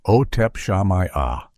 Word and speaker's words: Otep Shamaya: The center of this storm was the lead vocalist, Ot Shamaya, pronounced Otep Shamaya.